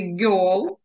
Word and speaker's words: girl: слово дівчинка спробуйте вимовити Girl потім у вас вийде з цього Це не зовсім є йо це такий як більш відкритий Да там є трошки відкриваємо рот Як наче літеру о кажемо але це не о